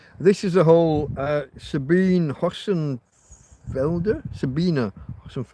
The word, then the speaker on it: Sabine: This is a whole uh Sabine Hosen Felder. Sabina Hosen. It's spelled with an E but pronounced Sabina.